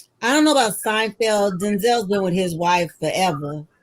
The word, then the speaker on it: Denzel: that we know well his name is actually pronounced denzel his mom calls him denzel yeah not to say the same name because his father's name is pronounced denzel it's not denzel so you that fine would just come out